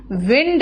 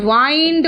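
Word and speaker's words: wind: यह विंड है पवन पवन जब बोलते हैं तो इसका प्रोनंसिएशन इसका प्रोनंसिएशन विंड रखते हैं विंड ठीक है लेकिन अगर वर्ब की बात करोगे तो वाइंड हो जाता है वाइंड वाउंड वाउंड लपेटना घुमाना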